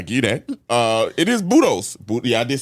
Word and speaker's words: Budos: I don't think that's how you pronounce it. Buddhist Brothers? Where is Budos? Budos. Yeah, you said Buddha.